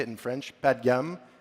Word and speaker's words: Padgham: My name's Ian Padgham, which is a horrible name. Nobody can pronounce it. Apparently it's British, all words ending like ham, like Buckingham, Nottingham.